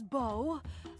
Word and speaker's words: Beau: Oh, we've been mispronouncing you the whole time. My name is Bo.